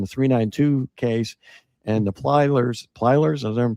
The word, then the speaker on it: Plyler: boat crash and the 392 case and the Plylers, is I'm pronouncing it right?